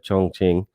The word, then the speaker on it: Chongqing: I pronounced it right, Chongqing.